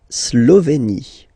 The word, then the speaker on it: Slovénie: La Slovénie. Remember, you get this accent aigu here. It's E. Slovénie. Final as usual, not pronounced.